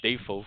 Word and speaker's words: Dafoe: Maguire as Spider-Man, Willem Dafoe or Dafoe, I believe it's Roland. It's pronounced as Dafoe according to him.